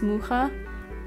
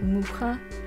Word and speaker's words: Mucha: the art by alphonse mucha I think that's how you pronounce it I always thought it was Mucha bits I saw a video on YouTube where his grandson pronounces that mukha so I will say